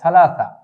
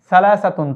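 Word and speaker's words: ثلاثة: তারপরে 3 কে আরবিতে কি বলা হয়, 3 কে আরবিতে বলা হয় সালাসা। এই যে আমরা এখানটায় উচ্চারণ লিখে দিয়েছি সালাসাতুন 3।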